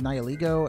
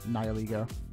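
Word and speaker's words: Nihilego: kind of funny is Nile ego and I only do that because his name is based on nihilism and like the ego so I just kind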